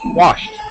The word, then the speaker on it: washed: word yeah all right past tense wased washed perfect you got it all right T sound very common to make a mistake on that one okay um Yar are